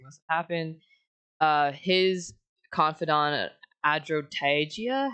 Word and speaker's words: Adrotagia: His confidant Adrotagia. How do you pronounce that?